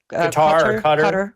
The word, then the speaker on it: Qatar: Qatar.